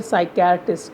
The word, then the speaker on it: psychiatrist: See here, psychiatrist. Psychiatrist, again and again I am telling you so that you should not forget the spelling of psychiatrist. P is silent here and SYCHI आएगा, ना कि CHAI कर दें आप, CHIARTIST साइकियाट्रिस्ट.